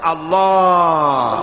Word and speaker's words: আল্লাহ: পাকের নামের উচ্চারণ হচ্ছে আল্লাহ মুখটা একটু গোল হয়ে যাবে বলেন আল্লাহ আল্লাহ সুবহানাল্লাহ